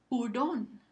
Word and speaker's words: hurón: Hurón. Hurón. Es la última sílaba, ron, que recibe el acento prosódico.